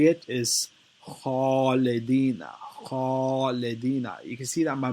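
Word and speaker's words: خالدين: Khalidina is the correct way to say it because it's heavy.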